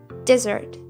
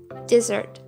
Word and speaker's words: desert: emphasis is on the first syllable desert desert while desert has stress